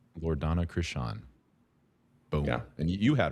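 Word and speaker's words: Loredana Crisan: Loredana Krishan. Loredana Krishan.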